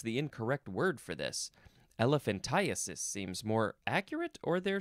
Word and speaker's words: elephantiasis: it's the same thing that as elephantitis it is spelled e l e p h a n t i a s i s elephantiasis uh you can also say elephantiasis elephan